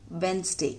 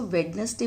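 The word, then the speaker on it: Wednesday: Monday, ट्यूसडे, वेंसडे। इसको वेंसडे बोलते हैं, बहुत सारे लोग इसको वेडनेसडे बोलते हैं। बेटा वेडनेसडे रॉन्ग है, इसको हम प्रोनाउंस करते हैं वेंसडे।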